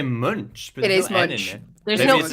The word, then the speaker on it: Munch: do you think edward munch painted the scream are you laughing at me again because like edward i just love it tim says true i've heard it pronounced monk too by allison what's